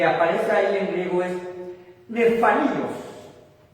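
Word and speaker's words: nephalios: Bueno, la palabra que aparece ahí en griego es nefalios, que se escribe N-E-P-H-A-L-I-O-S, y la PH punta suena como F, nefalios.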